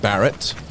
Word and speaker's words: Barret: let's touch base with the others Roger it's pronounced Barrett me and Dan used to yes hello hello